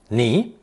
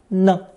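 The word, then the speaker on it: 呢: radical with knee phonetic originally pronounced second tone knee it meant constant murmuring in conversation however it functions as a very useful sentence particle pronounced with a neutral tone no no here are three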